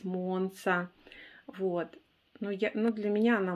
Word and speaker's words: Monza: Я ее опять называю монза, но это по привычке уж, простите. Вот, можете, конечно, меня поправить, но мы помним, да, что правильно говорить монса.